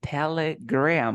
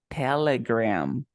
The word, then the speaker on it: Telegram: for example I say telegram it's like an e that becomes an A in your mouth like Telegram Instagram telegram Instagram you